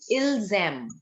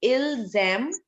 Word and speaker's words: ils aiment: The spelling is AIMENT. But beta, the pronunciation again is ilzam. It will be ilzam legato.